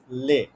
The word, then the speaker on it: les: masculine and plural হচ্ছে লে নো এল ও এস লে এখানে আমরা এস এর উচ্চারণ করবো না ঠিক আছে আমরা উচ্চারণ করব লে নট লেস লে ওকে এন্ড ফ্যামিনিন